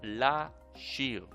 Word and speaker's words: לשיר: able to see that we have two kinds of infinitives. The one starts with the pronunciation of le, with the sound of le, and the other one starts with la.